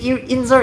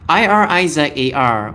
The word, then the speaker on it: Irizar: I keep saying Inzar. It's like Eraser. Irizar.